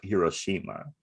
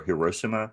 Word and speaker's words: Hiroshima: Like, I think plutonium is what they used in like the bomb that like blew up Hiroshima. I think so. Or Hiroshima. Is that how you pronounce it Hiroshima.